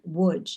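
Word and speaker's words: Łódź: needed to visit in Loge, their birthplace, and the city is pronounced Wuj in Polish.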